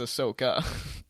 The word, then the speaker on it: Ahsoka: There's like 8 ways It's not to say her name. Asaka or Ahsoka. It's Ahsoka. Ahsoka.